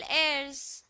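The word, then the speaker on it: heirs: accept step to legal एयर्स with school इन लोग वही है ना हायर वाले लीगल हायर ए साइलेंट होता है बच्चे हम लोग एंड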